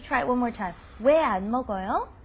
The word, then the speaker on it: 왜 안 먹어요: Even though it's written separately, you pronounce it as one word. Why don't you try it one more time? 왜 안 먹어요? 왜 안 먹어요?